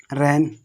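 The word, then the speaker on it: reign: आगे देखो आठवां हमारा बोल रहा है कि यदि एन से पहले जी आ जाए तो जी हमारा कैसा रहता है, जी हमारा साइलेंट रहता है, किस रहता है, जैसे रैन, साइन, डिज़ाइन, रिजाइन, सब चीज़ बताई दी, इसकी बताई दी।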